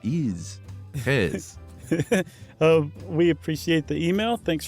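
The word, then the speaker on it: Gijs: And that is from Hes. Nice. Will you spell that for us non-Dutch speakers? At least that's how I was told to say it. It is pronounced, spelled G-I-J-S. Wow. And it said Hes.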